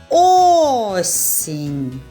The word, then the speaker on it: осінь: звуків стільки і складів А який голосний звук наголошений в слові осінь Послухайте уважно осінь більше чутно звук о над першим голосним ставимо наголос дуже добре любі діти